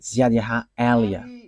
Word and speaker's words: Ziad Elia: So I pronounce it as my father pronounced it, Ziad Elia.